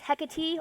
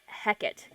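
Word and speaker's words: Hecate: pra into my practice you can pronounce her name as hecky or heckit uh I I've heard both but I actually pronounce it heckit drawing a daily tarot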